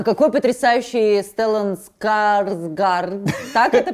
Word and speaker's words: Стеллан Скарсгард: А какой потрясающий Стеллан Скарсгард, так это произносится?